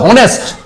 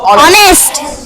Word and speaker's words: honest: আবার দেখো HONEST, এই সারে দিতে হবে, নয়তো হবে হনেস্ট। কি হয়ে যাবে? হনেস্ট। কিন্তু হনেস্ট উচ্চারণ করব না, আমরা উচ্চারণ করব অনেস্ট। কি উচ্চারণ করব?